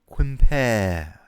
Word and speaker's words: Quimper: let's keep him go quimper quimper quimper you have to cup your scrotum and pronounce it while twisting your hand compare compare that's how you pronounce french names breast rest can you